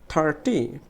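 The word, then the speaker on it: thirty: 30তে আবার এই থার্ডটা হচ্ছে ট্রাই সিলেবল, এই থার্ড কী করতে হবে, জোরে উচ্চারণ করতে হবে, টিটা স্বাভাবিক, থার্টি, থার্টি।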